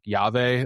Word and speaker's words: llave: Like, and instead she's working in I'm gonna botch the pronunciation of I think it's like Yave, like LLAVE, like lucha libre submission wrestling, and like that's where like her personality starts to first emerge.